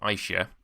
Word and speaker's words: Aisha: And she said, "It's Aisha," as in I shouldn't have done that.